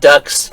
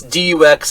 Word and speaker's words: Dux: forget how they say it's not ducks it's Dux and I'm going to mispronounce it every time because I'm American it's a French name Canadian um amazing effort